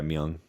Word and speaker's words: Myung: Yeah, but they were started up by the John Petrucci, Portnoy, and Myung. Is that how you pronounce it? Yeah, Myung, the bassist.